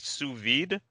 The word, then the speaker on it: sous vide: So tell me a bit about, and tell me if I'm pronouncing this right, sous vide.